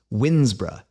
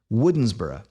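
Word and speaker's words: Woodnesborough: in 1800 wrote that in modern times this name has sometimes been pronounced winsbra but if you happen to live there or if you bother to search for a video of someone local actually saying this word in the 21st century you'll discover that the pronunciation often seems much closer to the spelling woodensborough interestingly spelling doesn't typically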